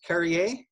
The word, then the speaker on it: Carriere: looking sharp uh your last name is pronounced carrier perfect carrier yes wonderful carrey